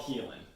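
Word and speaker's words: Haelan: success stories and it's it spelled weird it spelled like the old english way so h-a-e-l-e-n a-n sorry h-a-e-l-a okay but it's called helen oh okay okay but it's an old english spelling 951 helium-951 um but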